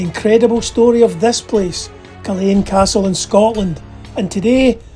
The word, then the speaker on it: Culzean: And yes, it's pronounced Culzean, not Culzean.